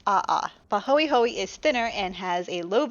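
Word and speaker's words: ʻaʻā: Now these names are Hawaiian, so hopefully I will pronounce them correctly. One is Pahoehoe and the other is A'a.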